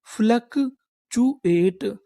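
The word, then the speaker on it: fluctuate: यू ए टी ई अगर आपको English में कहीं पर टी यू ए टी ई एक साथ लिखा मिले तो हम लोग इसे पढ़ते हैं चएट क्या पढ़ते हैं चएट तो हमारी पूरी मीनिंग क्या बनी फ्लक चुएट फ्लकचुएट फ्लकचुएट फ्लकचुएट का मतलब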